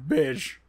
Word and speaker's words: beige: attractive form of beige beige like you really put that that soft G on the beige like your mouth is filling up with sand bit all right what